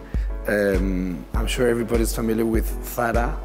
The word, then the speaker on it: Zara: I'm sure everybody's familiar with Zara or Zara, pronounced in English, Zara in Spanish.